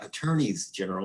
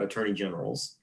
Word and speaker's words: attorneys general: attorneys general and yes that is how you say it attorneys general not attorney generals i learned that a